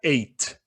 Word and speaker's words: ate: Essa primeira a gente pronuncia at. Essa segunda pronuncia ate. Tá? Elas são parecidas, né? Só muda o E ali, mas a pronúncia é bem diferente.